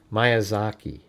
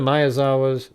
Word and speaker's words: Miyazawa: I know like the first thing out of the gate she doesn't say it right. Mayazaki I mean my god you know. Uh soon the Mayazawa started to lose more